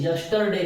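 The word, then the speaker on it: yesterday: ही go home यस्टरडे, ये यस्टरडे नहीं बोलना है, इसको यस्टरडे बोलना है, क्योंकि आर से पहले जो स्वर है ये साइलेंट हो जाएगा। ये साइलेंट रहेगा ना तो आर भी साइलेंट रह जाएगा, ठीक है ना। आर से पहले स्वर आता है तो आर साइलेंट रहता है।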